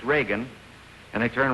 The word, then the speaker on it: Reagan: being with us tonight I say it right re Reagan Reagan is the correct I was sure about